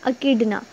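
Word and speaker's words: echidna: Platypus और दूसरी है अकीडना। प्लेटिपस, अकीडना, एज बच्चों इसमें साइलेंट है।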